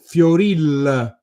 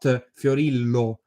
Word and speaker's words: Fiorillo: They have a vowel that doesn't exist in Standard Italian, which is similar to the English schwa. So they pronounce these last names as Fioril, not Fiorillo, as I say in Standard Italian.